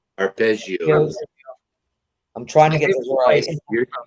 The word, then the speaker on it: arpeggio: It's a ballad uh grand semi classical opening with a prominent piano playing a ar aios. Is that how you pronounce it? Arpezio. Arpeggio.